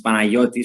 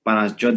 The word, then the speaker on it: Panagiotis: It's Panagiotis, so but Panagiotis is still good enough. Panagiotis. Yeah. So I just have to get rid of the G, no? Yeah. Yeah, like a gamma.